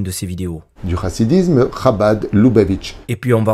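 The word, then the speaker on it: Chabad: sa vidéo vite fait d'abord sur la prononciation de khaba bon je l'ai vexé ok mais c'est parce que quand on se la joue érudit en Tor comme tu vas le faire d'ailleurs après on se doit un minimum de savoir prononcer surtout quand ce sont des termes toraïques khabad c'est l'acronyme de RMA Bina ved Daat je suis même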